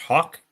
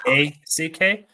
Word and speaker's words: Haack: I've heard it's pronounced Hawk. It's I think it is Haack.